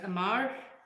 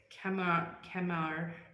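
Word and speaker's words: Qamar: You can pronounce it as Amar, or you can say it's Kamar.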